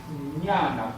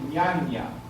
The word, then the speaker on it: ñana: Entonces, la ñana, pero que se pronuncia ñ al principio y n al final. No decir ñaña, ni decir nana, sino que es ñana.